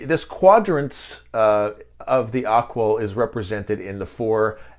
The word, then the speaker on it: AQAL: or share with you something called aqua it's spelled aqal it's an acronym for